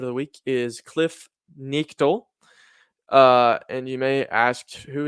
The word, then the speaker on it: Knechtle: Maybe wrong, but uh, it's pronounced Nichtel, I think, because it's always people always saying Nectal, but it's Nichtel, I think.